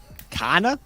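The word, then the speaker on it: Carn: Kana? How do you spell that? As in come on, but it's shortened. Come on. To Oh, Kana.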